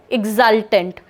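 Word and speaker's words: exultant: Next word कर रहे हैं सिनोनिम में, एग्जल्टेंट. प्रोनाउंसिएशन ई से स्टार्ट हो रहा है, एग्जल्टेंट.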